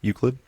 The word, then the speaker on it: Euclid: But I thought it was fun that um I was asking that because the song name was uh Uklid, right?